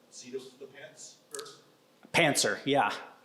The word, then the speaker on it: pantser: So not mispronounced German tank, but seat of the pants first? Pantser, yeah. Not Panzer.